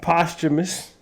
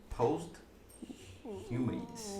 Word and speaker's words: posthumous: ace eighth album mm-hmm posthumous pope post humans bro i just told you i said posthumous did you hear me that's how you say it yeah posthumous posh